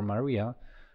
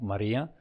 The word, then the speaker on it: Maria: The word start with a sort of crescendo, then it just have this its climax, its accent on the E of Maria, and then diminuendo.